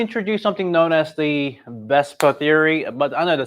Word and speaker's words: VSEPR: I'm goingon to introduce something known as the besta theory but I know the spelling is v s e p so valence shell electron pair repur but simply thinking like we just pronounce it as a best per um Theory this is the one that explaining